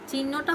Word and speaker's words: চিহ্ন: চিহ্নটা হবে ঠিক এরকম, চিহ্ন, অর্থাৎ আমরা কোনো ক্ষেত্রে মধ্যনটা ব্যবহার করব না, সর্বক্ষেত্রে দন্তননা ব্যবহার হবে।